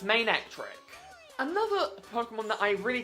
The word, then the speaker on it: Manectric: Its name is Main and Electric, therefore it's Manectric.